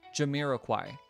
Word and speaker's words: Jamiroquai: How do you pronounce... Jamiroquai. No. Oh, Jamiroquai. Jamiroquai. Sorry, Jamiroquai. That's how you say it. Jamiroquai.